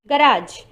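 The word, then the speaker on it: garage: गराज, जैसे कि गराज की जो स्पेलिंग है उसमें एंड में जो जी ई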